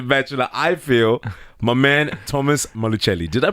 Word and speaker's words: Thomas Malucelli: screens on The Bachelor, I feel, my man, Thomas Malucelli. Did I pronounce it right?